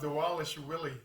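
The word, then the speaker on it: Dvalishvili: Yan defeated Mirab um Dwalish Vill or they might pronounce it Mirab Dwalish Willie. That's what they say. I'm like whatever. There's V's in there, but maybe they pronounce it W for some reason.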